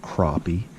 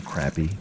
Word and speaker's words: crappie: of the day now i know a lot of you out there pronounce them crappie and i pronounce them crappy it's just a habit that is really hard to get out of because that's the way that i pronounced it pretty much my whole life so promise i'll do better for now you'll have to forgive me you may also notice